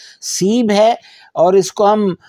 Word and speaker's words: سیب: تو ایپل جو ہے اس کے لیے لفظ سیب ہے، فارسی میں اس کا تلفظ سیب ہے، اور اس کو ہم مزید وضاحت کے لیے سیب درختی بھی کہہ سکتے ہیں.